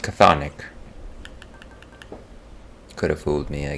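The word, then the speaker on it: chthonic: track down local Sonic keys so they're pronounced cathonic could have fooled me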